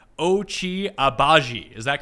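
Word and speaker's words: Agbaji: we're going to go with kansas as someone's phonetically spelled ochi abaji is that correct ben that is correct and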